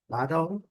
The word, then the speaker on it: battle: Mesma coisa, terminando com a letra L não pronunciada, o som da letra L no dark L. Então, temos a pronúncia no inglês britânico, battle, e no inglês americano